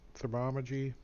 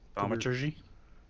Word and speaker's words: thaumaturgy: And use thermogy. What? How do you say it? Thermometry? Thaumaturgy? Yeah.